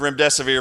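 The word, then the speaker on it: remdesivir: can't remember the word REM desevere because you know it's a it's made up just remember it rhymes with your death is near that's all you have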